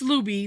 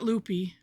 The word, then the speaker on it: Looby: Well, it's Looby, not Loopy, but you know.